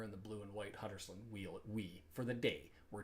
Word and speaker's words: Huddersfield: Drop the H because they don't pronounce it in Yorkshire. It's an Huddersfield.